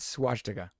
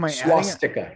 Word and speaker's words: swastika: you say that word swastika it's swash there's no ed there's no h it's swastika swastika is that how you